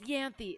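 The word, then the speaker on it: Ianthe: Tales of her nurse it's pronounced yanthi it's a Greek name okay sorry oh it's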